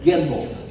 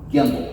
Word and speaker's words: gimbal: And um I was wondering wanting you to reounce that and maybe spell it for me. Gamble or whatever. Gimble. G I M B A L. Gimble.